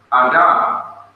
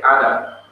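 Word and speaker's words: אדם: being whom God created, the Hebrews pronounced the name Adam. They didn't say Adam. They said Adam because the accent was on the last syllable, D-A-M.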